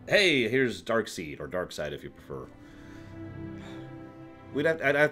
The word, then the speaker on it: Darkseid: that as well I just I know it's pronounced dark side I don't care forgive me for first digging